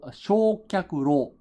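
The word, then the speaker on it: 焼却炉: And then the third kanji here can be pronounced as ro. Shokyaku-ryo. Shokyaku-ro.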